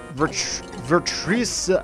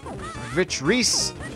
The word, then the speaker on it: Vitreous: And here we have Virtuoso. I believe that is his name. Let me look at the pronunciation here. Vitreous. Why can't I pronounce things?